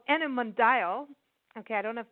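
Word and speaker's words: Animondial: tourism consultancy could called enim mundial ok I don't know if that's actually how you pronounce it but it's a n I am o ndia L like dial ok it's been established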